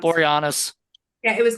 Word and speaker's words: Boreanaz: So, Oh, in the movie that I thought Angel David Borazon, what I can never pronounce. Boreanaz.